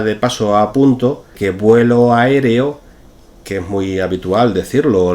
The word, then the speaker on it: aéreo: de que la palabra correcta es inauguración 43 aéreo aéreo lo he pronunciado en el primer caso de manera correcta